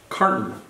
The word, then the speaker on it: carton: Carton. Carton. Se pronuncia, mira, car, como si no existiera la O.